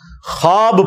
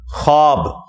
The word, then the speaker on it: ख्वाब: शैतान नहीं आ सकता अच्छा यह लफ्ज लिखने में है ख्वाब ख वा अलिफ बा लेकिन पढ़ने में यह ख्वाब है वाओ साइलेंट हो जाता है ख्वाब पढ़ा जाता है यह लफ्ज़ उर्दू